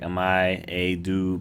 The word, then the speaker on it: Amayado: Apparently it's pronounced like Amayado Bus Stop.